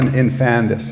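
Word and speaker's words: infandous: even other words I learned Infamous am I pronouncing it right i-n-f-a-n-d-o-u-s infantis yeah infandus yes okay okay so a thing too horrible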